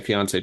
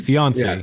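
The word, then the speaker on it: fiancé: opting for that apparently you got to say it like Beyonce fiance fiance yeah that's right I gotta make it rhyme like Kanye did uh no uh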